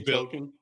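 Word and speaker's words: Tolkien: It's Tolken with the You said Tolken earlier, so I was Tolken. Tolken. Say toolken.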